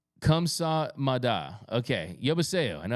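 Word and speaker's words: 감사합니다: Korean lesson thank you in Korea is pronounced kamsa Mada okay yo I know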